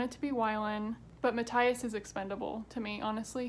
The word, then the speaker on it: Matthias: I realized it's pronounced Matthias because there's literally a pronunciation guide in the back of the book that I did not know about.